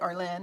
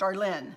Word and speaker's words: Arlene: said she thinks that Arlene is a pretty name. And I said, if it's pronounced correctly, it's pretty, Arlene. I like it when it's pronounced Arlene, not Arlen.